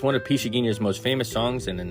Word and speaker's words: Pixinguinha: That's Pixinguinha, and it's my understanding it's pronounced Pixinguinha. Born in 1897, lives till 1973.